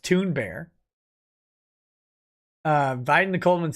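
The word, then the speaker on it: Thunberg: gawker's death rattle says apparently greta's name is pronounced toon bear uh biden coleman says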